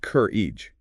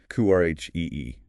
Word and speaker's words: courage: Stress on the first syllable sounds like courage, not cur e. Courage.